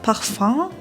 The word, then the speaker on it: Parfum: Ja, man sagt auch Parfum manchmal, das ist die französische Aussprache.